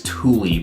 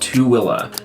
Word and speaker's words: Tooele: Yeah, so we got another county called Tooele County, and if you've ever seen it spelled, it looks like it's Tooele, but it's pronounced Tooele.